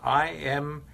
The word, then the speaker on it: imiquimod: Oh, spell that MIC topical again. Imiquimod is, yeah, it's I-M-I-Q-U-I-M-O-D, Imiquimod.